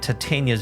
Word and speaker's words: Titania: you can't and he says that looks like titania's vision center titania that's how you pronounce it okay um detective later did you